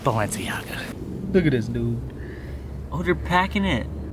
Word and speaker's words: Balenciaga: people tell me it's actually pronounced valence it's pronounced Balenciaga dude oh you're packing it look at that